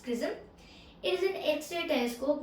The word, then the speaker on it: XRISM: x c r i s m which is pronounced prism it is an x-ray telescope which is which